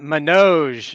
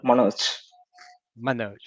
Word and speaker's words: Manoj: thanks okay we got menoge is that how i say it or no am i saying it way wrong uh yes how do you say it let let me learn okay uh i used to call manoj well i tried my